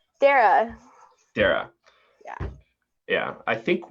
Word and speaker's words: Darragh: Darragh.